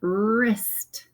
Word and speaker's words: wrist: And here the W and R, think of your wrist. So the W doesn't make a sound.